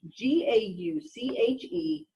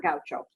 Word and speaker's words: gauche: that is called gauche GA u CH e it's pronounced gauche it's not Gaucho personally I don't care